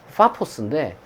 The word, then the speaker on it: 파포스: 조금 더 사실 원문에 맞게 발음하면 이 파포스인데, 이 바보라고 하니까 약간 좀 우리말 어감에 좀 우스꽝스러운 느낌도 나요.